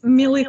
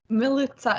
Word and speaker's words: Milita: It's Milita, by the way, just because you asked. Mili. Milita. It rhymes with Militsa. pizza. Okay. That helps. Militsa.